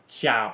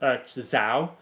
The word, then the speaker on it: Zhao: But yeah, it's spelled Zhao, and I don't think it's pronounced Xiao. I think it's pronounced Zhao, not Xiao.